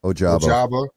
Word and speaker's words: Ojabo: Ojabo.